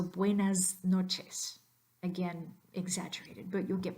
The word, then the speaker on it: buenas noches: - that comes before notice that s at the end needs to be pronounced as a Z so buenas noches again exaggerated but you'll